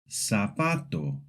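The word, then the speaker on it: zapato: In Latin American Spanish, Z is very simple. It's pronounced just like S. This means that any word with a Z sounds exactly the same as if it had an S.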